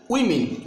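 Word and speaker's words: women: Next ওয়ার্ডটা আমরা দেখি, এটা হবে উইমেন। এটাকে আমরা কি বলি? উমেন বলি। বাংলাতে এটা উমেন বলি, বাট এটা ইংলিশ উচ্চারণ, শুদ্ধ উচ্চারণ হবে উইমেন।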